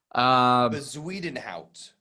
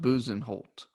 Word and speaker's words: Bezuidenhout: Bezuidenhout. Yeah, I don't. I almost feel like it's pronounced Buzenholt. That might also be true.